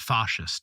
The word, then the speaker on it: fascist: himself a fascist pronounced fascist Italian Italian style right and along the